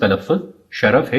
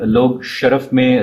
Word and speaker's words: شرف: لفظ شرف آیا ہے۔ اس کا درست تلفظ شرف ہے، یعنی شین اور رے دونوں پر زبر ہے۔ اگرچہ عام طور پر لوگ شرف میں رے کو ساکن پڑھتے ہیں، لیکن وہ غلط ہے، اور اس طرح شرف